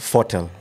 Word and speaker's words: Fotel: Me we pronounce Fotel. Fotel. But watu wengi usema Fotel.